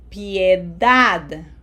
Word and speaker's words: piedad: We have to pronounce each vowel, so this does not sound like pie, okay? Have to smile here. piedad piedad papel So, in the